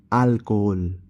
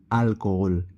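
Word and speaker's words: alcohol: আল ফোমরা আল ফোমরা carpet আলকালদে আলকালদে মেয়ার আলকোহল আলকোহল এই উচ্চারিত হয় না সাইলেন্ট থাকে মানে অ্যালকোহল ওখালা ওখালা অর্থাৎ আশা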